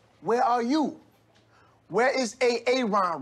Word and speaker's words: Aaron: the first time i said aaron because it's pronounced aaron you done messed up a ron now take your ass on down to osha